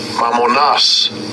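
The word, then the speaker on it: μαμωνᾶς: Mammonas. Mammonas. That's how you say it in Greek.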